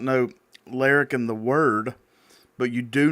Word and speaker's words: Larrikin: And what's funny is I actually was saying Larkin the whole time until somebody corrected me. And I was like, that can't be right. Well, how is it supposed to be pronounced? Larrikin? Mm-hmm.